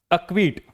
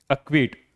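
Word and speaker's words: acquit: अक्विट देखिए ई के बाद क्या आता है? क्यू अक्विट। अब यहां पे आप इसको हटा भी दो। फिर भी क्या होगा? अक्विट ही होगा।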